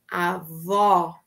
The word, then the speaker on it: avó: a minha avó avó Olha o formato da minha boca bem aberto avó avó isso conseguiram escrevam para